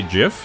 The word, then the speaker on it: GIF: So, you say jiff? You say like with a j jiff? I'm just curious where where the where people calling it jiff comes from. Cuz I feel like if it was jiff, it would be like the peanut butter, which is spelled with a J.